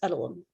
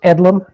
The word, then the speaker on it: Edelman: so next up is edelman i'm sorry if i mispronounced your name thank you madam chair it's edlum um and uh i